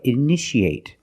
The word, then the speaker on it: initiate: see a new word you see t a how do we pronounce it that's right sh sh so how do we pronounce this word that's right initiate in the present initiate